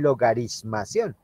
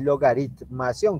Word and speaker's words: logaritmación: Porque algunos acostumbran a tener un errorcito en su pronunciación y le llaman logarismación. Y no, es logaritmación con T.